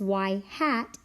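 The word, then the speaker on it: ŷ: see in statistics is y hat equals a plus BX the little up arrow above the Y is pronounced Y hat and it means predicted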